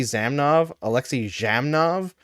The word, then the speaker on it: Zhamnov: not like za, it's like giraffe G. So J. So I was like, we were supposed to call Alexei Zhamnov this whole time, and nobody said anything.